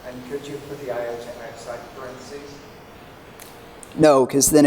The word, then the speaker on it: iota: If you do I, that's not I2 and then separately 3, 4. It's like I on the 2, 3, 4 list. Yes, yeah, so this is stranding here again. And it's pronounced iota, by the way.